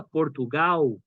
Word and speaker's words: Portugal: Portugal se escreve com L no final. Portugal, né? Mas no português do Brasil a gente escuta Portugal.